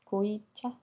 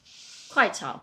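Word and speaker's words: 快炒: Goi cha...? How do you say it then? Kuai cha. Ah, close enough~~ No it’s not! Totally different, lol.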